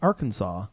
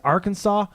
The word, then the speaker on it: Arkansas: it's not say Tana I almost pronounced Arkansas Arkansas we often do I don't know why because it's spelled Arkansas and I had a